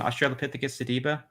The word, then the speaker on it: Australopithecus sediba: Australopithecus sediba. Yeah. Okay. See, Yeah. I'm trying not to mispronounce any big words, so you'll have to bear with me.